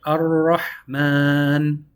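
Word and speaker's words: الرحمن: So the Ra eats the Lam. Ar, and we get to roll our R's a little bit. Ar-Rahman, merciful.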